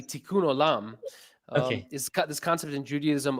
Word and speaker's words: Tikkun Olam: Well, let me just say you pronounced it correctly. Tikkun Olam.